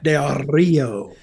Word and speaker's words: Del Rio: Alberto Del Rio or Alberto El Patron as he's known. Say his name right. Del Rio. You got to roll the R. Del Rio.